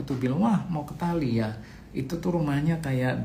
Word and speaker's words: Dali: Nah, di situ ada daerah yang namanya Tali. Tulisannya Dali. Saya bacanya Tali.